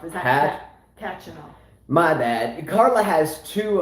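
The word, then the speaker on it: Khachanov: No, you're saying it wrong. It's Hatchanov. Is that Kachanov?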